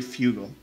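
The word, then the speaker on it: Fugo: call him so no his name is literally Fugal which is the same pronunciation for Fusion which is Frugal shulkan yeah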